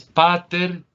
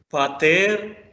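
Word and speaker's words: πατήρ: de la primer palabra no es pater porque mira dónde está el acento va a ser otra vez haciéndole más fuerza a la segunda sílaba patel ahora ya ha cambiado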